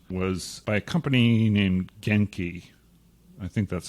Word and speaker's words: Genki: that came out was by a company named genki i think that's how you pronounce it g-e-n-k-i genki in 1999 this company was a part